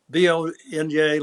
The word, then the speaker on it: Viognier: And it was my wife Bunny's favorite wine, and she said, Viognier, like YMCA. That's how you do it.